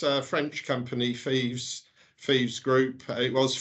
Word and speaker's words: Fives: based in Keithley uh is it pronounced fives or feeds Landis and thieves it's French I'm sorry about the phone I've just killed that um yeah no it's um it's uh French company thieves thieves group it was